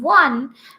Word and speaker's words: one: But actually when we are saying one, you see, first of all, we are getting the sound of W, that is wa. Wa sound we are getting, isn't it? It is not the sound of O. So if I talk about orange, what is the sound we are getting in orange? That is O, isn't it? But in one, first of all, the wa sound is coming, and that's why the